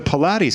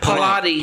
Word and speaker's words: Pilates: She's a She's a Pilates instructor. Pilate. How do you pronounce that? Pilates.